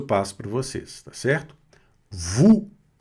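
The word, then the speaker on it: vous: Vu. Vu. Não pronuncia esse s, hein?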